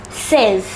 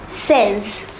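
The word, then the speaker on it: seize: over to the next five numbers foreign is pronounced as says say it once again says the number 17 is it if you notice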